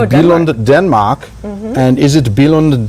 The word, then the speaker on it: Billund: Help me with pronunciation again. Billund?